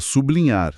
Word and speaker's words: sublinhar: O material cita sublinhar. Sublinhar. Como L é pronunciado de forma clara, isolada do B, a divisão acontece ali. Sublinhar. A separação reflete a pronúncia real.